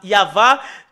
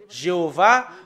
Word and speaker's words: Yahvah: sont enlevés de l'original normalement ça doit être yava que qu'on doit le prononcer bah ça a changé en y avait Jéhovah ou you bah alors que ce sont des noms qui n'ont pas été prononcés par les Juifs mais ce qui a été prononcé par les juif c'est yava et tout ceux qui